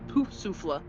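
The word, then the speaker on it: Poufsouffle: are slightly different but Hufflepuff is poof souffle but it's pronounced it's it's it's said but it's this its spelling is poof souffle p-o-u-f-s-o-u-s-s-l-e I do too it's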